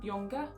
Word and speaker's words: Junger: It's called A Death in Belmont by Sebastian Junger. I think that's how you pronounce it. You usually don't pronounce the J.